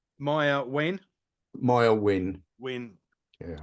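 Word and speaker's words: Maiah: I think that is it's Maya it's actually pronounced Maya Maya win Maya win win yeah when she come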